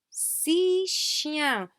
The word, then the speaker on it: six chiens: Okay, now here, six chiens. We do not pronounce this final X, okay?